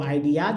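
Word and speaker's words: ideas: मिलता जुलता आइडिया लेकिन पूरा इस को स नहीं पढ़ेगा ज पढ़ देंगे तो आइडियाज हो जाएगा आईडिया क्या पढ़ेंगे ज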